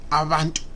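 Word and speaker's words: abantu: In the Zulu language, the word B is pronounced as Va, Vantu, Avantu.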